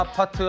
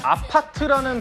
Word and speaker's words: 아파트: 사실은 아파트라는 발음은 한국식 발음이잖아요. 영어는 아니죠. 그런데 해외에서도이 한국식음으로 아파트라고 외치는 모습이 곳곳에서 포착되고 있습니다.